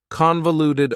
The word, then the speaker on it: convoluted: Convoluted also has 4 syllables, and the stress is on the first syllable, convoluted.